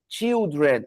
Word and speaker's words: children: Yes, esse plural irregular tem uma particularidade que ele tem o mesmo começo de palavra, mas ele se pronuncia diferente no singular e diferente no plural.